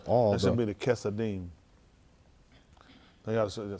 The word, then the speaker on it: Chesadim: I said they going to probably, no, I'm saying they probably going to spell it C-H-A-S-E-D-I-M. But I'll say C-H-A-S-A-D-Y-M. Chesadim.